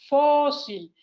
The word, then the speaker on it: fósil: Yo tengo aquí dos palabras muy parecidas, fósil y fusil. La diferencia aquí es que la sílaba tónica está ubicada en un lugar diferente. Aquí es fósil.